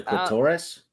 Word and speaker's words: clitoris: The clitoris? Yes. But that's how you pronounce it, correct? Yes, it is how you pronounce it because it was it rhymed with Dolores.